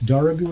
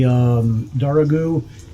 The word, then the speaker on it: Dargahou: I believe it's Darghou is how you pronounce it.